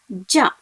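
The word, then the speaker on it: じゃ: With the alphabet G, same as she, you should pronounce it as ja, ju and jo.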